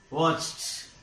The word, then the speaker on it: watched: Watched. Watched. Here it is pronounced as watched. Watched. T. T. This ed is pronounced as t.